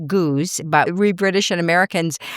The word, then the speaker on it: Goudge: Her name is Elizabeth Guj. in Britain actually her name is pronounced goose but we British and